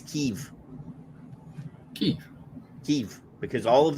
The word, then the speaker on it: Kiev: went to school the the capital of the Ukraine was Kiev Kev K IE V Kev but apparently been saying it wrong this whole time is keev ke keev because all